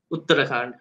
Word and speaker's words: Uttarakhand: And this state, is with, how do you pronounce the name of the state? Uttarakhand.